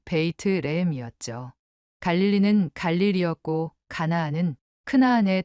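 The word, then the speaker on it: בית לחם: 처음에는 예루살렘이나 베들레헴처럼 잘 알려진 도시들부터 시작했는데 히브리어 발음으로 읽어보니 우리가 알고 있던 것과는 전혀 다른 소리였습니다. 예루살렘은 예루샬라임이었고 베들레헴은 베이트레헴이었죠.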